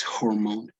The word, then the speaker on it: hormone: Okay, so and this H is pronounced as J in Spanish, right? It's hormone.